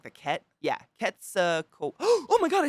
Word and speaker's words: Quetzalcoatlus: Quetzalcoatlus.